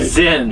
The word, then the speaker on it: Zynn: most recent endeavor is Zen. Am I saying that right? You're saying it right. Zen.